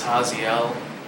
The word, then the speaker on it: Jaziel: So, my name is Haziel, and yeah, he's got a point. You spell it Jaziel. So the J is kind of an H since it's Hispanic.